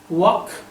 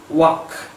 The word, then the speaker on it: walk: it is here but L is not pronounced here it is silent so what please say with me walk now Westerners look at